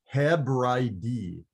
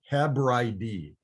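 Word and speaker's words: Ἑβραΐδι: It is pronounced in Greek, Hebraidi, Hebraidi. And it sounds like the word Hebrew.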